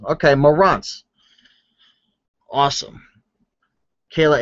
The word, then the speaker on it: Marantz: All right, homeboy Chris is teaching me how to pronounce his name. So it's Marantz. Okay, Marantz.